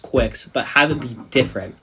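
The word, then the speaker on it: Kwics: c s huh quick you still pronounce it quick I mean some re like silly person silly people z uh where would say kwix for some reason even though there's no dash in between the K and WS kwix it's obviously it's quite obviously pronounced quick yeah like even when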